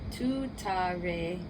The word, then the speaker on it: tuttare: TARE, Too-tah-ray, TURE, So-hah.